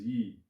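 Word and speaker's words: 益: The pronunciation is yi.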